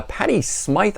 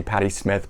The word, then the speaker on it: Patty Smyth: show you that uh patty smythe i think is how she pronounces it some people i hear say patty smith but i think it's patti smythe never enough uh first